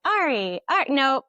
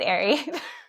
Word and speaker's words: Ary: When I was writing I was like ari no it's airy.